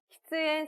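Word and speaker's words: 喫煙: 근데 어느 게 금연이고 흡연인지를 알아야 되는데 발음이 비슷해요. 흡연은 키스행입니다. 그리고 금연은 기행이거든요. 그래서 요 하나, 응이냐 츠냐에 따라서 한 끗 차이예요. 키스엔 세키, 흡연석, 금연석이라고 할 때 키스엔 세키라고 하면 그렇습니다.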